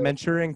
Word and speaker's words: Manchurian: No, you're pronouncing it right. Manchurian candidate.